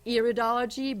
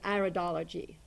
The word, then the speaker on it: iridology: dear knowledge it's because the prettiest version is iridology but the American version is iridology so you can say